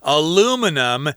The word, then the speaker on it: aluminum: got these different materials aluminum is how we say it in america in england and other places they'll say aluminium but americans say aluminum which is a very